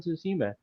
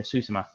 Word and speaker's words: Tsushima: streaming goes to tsuma i have a hard time pronouncing that but it's like actually no it's not even susima uh the actual japanese people have been saying suzuma okay yeah cause they talk a little faster i got you yeah